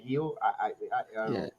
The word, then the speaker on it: Gil: the mario it's called it's spelled gill but for some reason they want to call it heal you probably go to